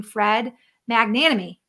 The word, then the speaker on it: Fred Magnanimi: link up there but you spell his name fred magnanimi did i say it right that time that's